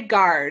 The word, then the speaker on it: Gard: I'm going to say Gard. Am I saying it right? Yep, you are saying it correctly.